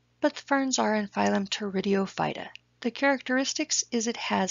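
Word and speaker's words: Pteridophyta: ferns are in phylum tour IDEO fighter the P is silent who puts silent letters in these words I don't know but ferns are in phylum tour video fighter the characteristics is it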